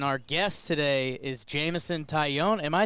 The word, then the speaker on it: Taillon: pretty cool I appreciate we actually went phonetically were like tight oh yeah that's like a tie-in you own it old